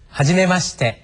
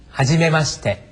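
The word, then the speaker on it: はじめまして: 모범 발음으로 다시 한번 들어 보시죠. 하지메시. 하지메시.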